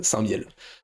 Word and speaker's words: Saint-Mihiel: Ah non, mais c'est C'est mon coin, c'est non, le non, lieu mais de naissance de mon paternel, alors Saint-Miel. c'est important de bien prononcer les choses.